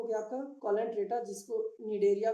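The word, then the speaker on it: Cnidaria: ये देखिए, एक हो गया आपका कॉलेंट्रेटा, जिसको निडेरिया के भी ये से बोलते हैं, ये सी साइलेंट हो जाएगा, ठीक है। सी साइलेंट होके निडेरिया हो गया।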